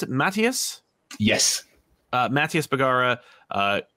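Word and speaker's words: Matías: uh book with uh collaboration uh do I pronounce it mattius yes uh mattius bagara uh gorgeous book Incredible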